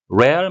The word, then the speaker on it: Real: 레알 마드리드, 리얼이 아니고요. 로얄이라는 의미를 갖는 스페인어가 되겠습니다.